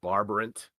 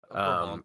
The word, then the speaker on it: Brabant: He was born Hieronymus von Aiken 1450, and I'm gonna massacre this pronunciation because I'm not Dutch. It's a Hertgenbosch in the Duchy of Barbarant, Brabant.